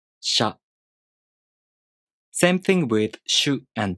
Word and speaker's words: しゃ: To pronounce しゃ, you first make the [ɕ] consonant sound. [ɕ] Then, the tongue moves into position for the [a] vowel. sha Same thing with しゅ and しょ.